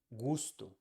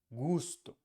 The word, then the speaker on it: gusto: next one is um which you can find in words in English like Moon and words in Spanish like gusto is the same sound U Moon gusto gusto is the same